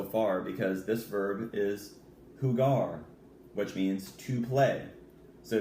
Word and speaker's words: jugar: perfect for that now look how it's pronounced whoo gah jugar the Ju and jugar makes a whoo sound so it's whoo gar okay jugar means to